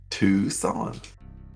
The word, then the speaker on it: Tucson: It's Tucson. Tucson. Why That's not is how there it's pronounced. why is there a C in there then? Why is it silent?